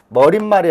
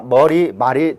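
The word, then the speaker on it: 머리말: 우리 말이 되겠죠 그래서 두 단어가 합성이 되면서 다름을 하게 되면 머린 말이 아니라 머리 말이 됩니다 발음에 있어서 니은 첨가 라든가 그리고 또는 어떤 된소리 이런 것들이 나타나지 않죠 쉽게 얘기를 하면 사이 술 현상이 일어나지 않는다는 얘기입니다 그렇기 때문에 바른 날은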